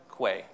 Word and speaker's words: Quay: which by the way it's official Quay is pronounced Quay according to this shirt so no I don't